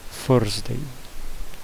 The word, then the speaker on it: Thursday: Quinta não começa com T, então vai ser aquele que começa com T, mas o som vai ser com F. Thursday.